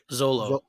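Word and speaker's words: Xolo: do you say Jaime's real name he's fantastic Zolo Zolo yeah that kid crushed it man yeah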